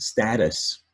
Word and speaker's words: status: And status, you look, oops, status has a short U sound, stat us.